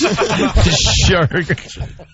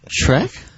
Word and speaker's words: Shrek: Shrek. All right, so it's spelled SHERK. Yeah. And how do you pronounce that? Trek?